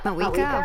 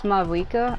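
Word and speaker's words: Mavuika: Like, I was separating the M-A from the V-U-I, so it's like Mawika, and I guess that's not how you say it.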